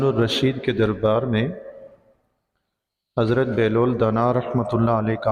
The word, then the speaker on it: بہلول: کو بہلول کہتے ہیں، ہماری اردو زبان میں بہلول پڑھا جاتا ہے۔ اردو میں مشہور و معروف یہی ہے، تو میں بھی بہلول ہی کہہ رہا ہوں۔ عربی میں اصل میں درست تلفظ جو ہے اس کا وہ بہلول ہے۔ حضرت بہلول دانا رحمۃ